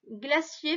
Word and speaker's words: glacier: Glacier, fais bien attention au C qui se prononce S, puisque là, il est devant le I. Glacier.